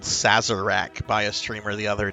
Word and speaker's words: Sarzac: It's Sarzac. It's two simple syllables. Zac. Sar, like you know, the disease from a few years ago, SARS.